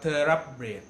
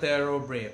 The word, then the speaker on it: Thoroughbred: บ อ ก อ่ า น ว่ า Thoroughbred น ะ ท อ ท ง น ะ